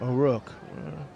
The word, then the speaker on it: O'Rourke: I've been saying O'Rourke. O'Rourke. It's O'Rourke.